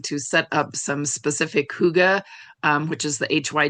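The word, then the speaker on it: hygge: And I also saw a lot of folks wanting to set up some specific huga. Um which is the hy ge. It's pronounced huga.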